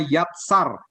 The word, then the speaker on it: yatsar: Nah, kata membentuk itu beda lagi, dalam bahasa Ibrani-nya yatsar, Y-A-T-S-A-R bacanya.